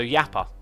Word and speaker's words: Jasper: When you say Jasper, Jappa, the J is pronounced more like a Y as in yes. So it's like Mojang. So Yappa, because of the Swedish thing.